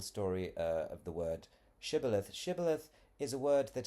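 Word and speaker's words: Shibboleth: They made them pronounce the word Shibilith. And when that word was pronounced as cibilith as you can see here by the Ephraimmites then they knew that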